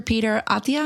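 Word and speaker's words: Peter Attia: Peter Atia, is that how you say it?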